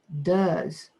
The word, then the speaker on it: does: are side by side does sounds like to me it would be spelled d d uh that's opium is does d u z but it's not how you spell it this is how you